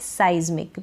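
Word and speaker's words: seismic: साइज्मिक, इसका pronunciation है साइज्मिक।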